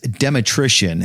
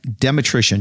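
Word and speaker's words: Dmytrysyn: Just like Danny said, nobody can really say it, spell it, or anything else, but it's spelled like this. D M Y T R Y S Y N. Dematrician, just like electrician.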